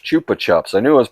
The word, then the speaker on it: Chupa Chups: See, Chupa Chips. Chupa Chups. Chupa Chups. I knew I was pronouncing it wrong.